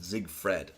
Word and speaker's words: Zigfrid: Actually, the way you pronounce it, Zigfred.